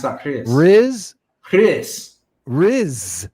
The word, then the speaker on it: Rhys: Riz. That's a Welsh name. RHYS. You're going to pronounce that Chris. Riz.